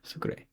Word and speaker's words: Sucre: So the capital of Bolivia is Sucre sounds like a sugar Sucre.